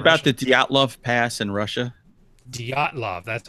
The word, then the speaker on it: Dyatlov: Dyatlov?